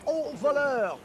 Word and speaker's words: au voleur: au voleur. Au voleur. Au voleur. Au voleur. Au voleur. Au Okay. revoir. Au revoir. Au voleur.